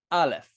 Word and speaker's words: aleph: And then down here is how to pronounce it in Hebrew. So this spells out aleph. Aleph. So this is the Hebrew pronunciation.